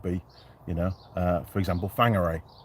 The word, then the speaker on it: Whangarei: I'm off to see John today, and that would be, you know, for example, Whangarei, which is spelt with a W and pronounced F.